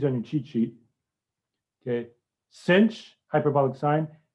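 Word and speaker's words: sinh: thing but i usually just say cinch for this cinch like the english word cinch c-i-n-c-h cinch this one i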